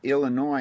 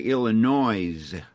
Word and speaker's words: Illinois: I've learned how to uh by going to these different places, I've learned how to pronounce it. It's like before we moved to Illinois, I would say Illinois, right?